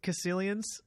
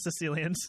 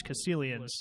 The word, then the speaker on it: Caecilian: Or Caecilians, I think is how you say it. Not Sicilians, Lord.